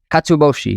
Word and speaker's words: katsuobushi: Katsuobushi, is that Katsuobushi. Is that how you pronounce it?